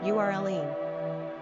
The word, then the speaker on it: Earline: Pronunciation, Earline.